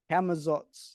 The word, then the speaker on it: Camazotz: Yeah, how do you pronounce it? Camazotz? Camazotz, yeah.